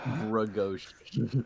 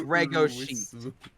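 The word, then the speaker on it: Legoshi: and it's redko sheet it's pronounced ruisu and bragoshi yeah it's reggo but i do think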